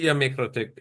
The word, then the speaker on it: MikroTik: Well, so it's MikroTik as a company, which is Mikrotiko, small network. That's Latvian.